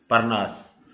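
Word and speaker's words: Parnas: Are silent रहेगा क्योंकि आर के बाद में वोवेल नहीं आ रहा है। नाउन के अंदर आ सकता है, सॉरी, परनास।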